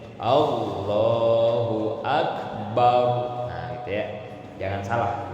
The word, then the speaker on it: Allahu Akbar: Jangan a-nya dipanjangin, barnya dipanjangin. Nah, jangan gitu ya. Jadi harus benar tajwid dan makharijul hurufnya gitu ya. Allahu Akbar.